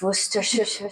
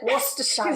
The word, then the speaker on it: Worcestershire: And the sauce that we don't know how to pronounce, Worcestershire. Worcestershire sauce.